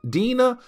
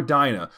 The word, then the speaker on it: Dinah: is dating her roommate, Dina or Dinah. Matter of fact, guys, I saw this name spelled either way or pronounced either way, sorry.